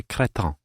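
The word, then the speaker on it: cretin: My brother acts like a cretton, which she pronounces in a sort of French way.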